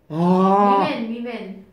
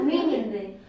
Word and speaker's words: women: 되게 잘한다는 애들도 발음 희한하게 해가지고 쟤들도 얘는 발음이 뭘까요? 뭐라고 하세요? 아니 뭐라고? 위. 위맨.